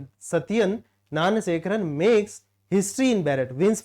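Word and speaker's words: Gnanasekaran: चीज नेक्स्ट है सत्यन नान सेकरण ठीक है सत्यन नान सेकरण ठीक है जी साइलेंट रहेगा सत्यन नान Shekhar makes history in Barrett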